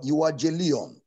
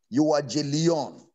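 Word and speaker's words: εὐαγγέλιον: word gospel was translated from the greek word you are j leon you are j leon e u a double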